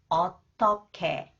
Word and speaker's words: 어떻게: Okay, when the consonant 기역 comes after the final consonant 히읗, it combined with 히읗 and it is pronounced 크. 어떻게, 어떻게.